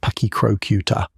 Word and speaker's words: Pachycrocuta: Pachycrocuta brevirostris, pronounced Pachycrocuta, the giant short-faced hyena.